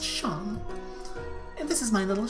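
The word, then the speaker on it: Seam: better to do I mean seen Oh Shawn pronounced Shawn and this is my little shop over the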